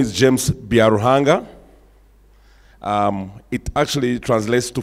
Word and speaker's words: Byaruhanga: if you learn something today to be out pronounced my name my name is James biarrojanga um it actually translates to for God so